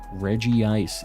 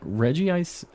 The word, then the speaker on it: Regice: was already locked in Reggie say Reggie say that's what we're saying from now on Reggie say that already say uh or goldango what about goldango I don't know Reggie ice Regice I'm I'm just gonna say Regis I'm not gonna try to censor myself for you guys Regice you know who I'm talking about the icy one um Reggie a wrenchy